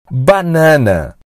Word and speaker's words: banana: o número Six a banana a banana menina menina menina a escrita é igual ao português porém com a pronúncia diferente e a maioria dos Americanos dizem banana clip banana a